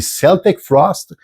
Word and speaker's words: Celtic Frost: Je parle du groupe Celtic Frost, et je sais que dans certains pays, il y en a qui prononcent Celtic Frost. Alors nous, au Québec, on dit Celtic Frost, et leur fameux album de 1988 qui s'appelle Cold Lake.